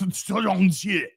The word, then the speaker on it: Shang-Chi: No, actually, it's pronounced Shang-Chi.